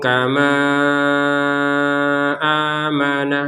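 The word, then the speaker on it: كَمَا آمَنَ: Ainu kama amana. Nah, habis ini dicari ataupun digabungkan dengan kata berikutnya. Intinya ini adalah kalau digabungkan antara panjangnya ma dengan hamzah maka panjangnya lima harakat.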